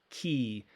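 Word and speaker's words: χ: haven't learned that word what looks like an x is pronounced key um at times and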